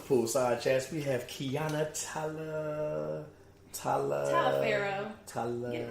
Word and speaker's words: Taliaferro: Like it's Taliaferro, No.